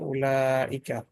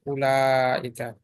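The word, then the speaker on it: أولئك: Note that the ওয়াও ইন উলাইকা, উলাইকার মধ্যে যে ওয়াও আছে ইজ নট প্রোনাউন্স, এটা উচ্চারিত হবে না। দ্যাট ওয়ার্ড ইজ প্রোনাউন্সড উলাইকা, নট উলাইকা।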